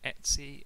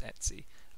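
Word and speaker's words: etc: protocol so for one i called this etsy that's just how i've heard it been pronounced before this folder just in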